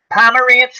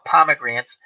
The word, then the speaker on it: Pomerantz: Pomerantz, who I always call Pomegrants. Pomerantz, and I don't mean it out of anything bad. I just mispronounce his name, unfortunately.